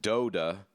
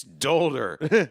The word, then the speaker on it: Dolder: But um anyway, she would pronounce it Doda. Doda. And And And I' I've always wanted to go up to her and say, "It's Dolder. It's German. Dolder with a hard R."